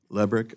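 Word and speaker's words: Lebryk: Am I pronouncing his name correctly? I believe it's Lebrick. Lebrick, okay.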